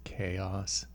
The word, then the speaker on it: Xaoc: the uh xaoc thing do you know they they want you to pronounce that as chaos that kind of bugs really i know right i pronounce it zlk yeah zak zawak kneel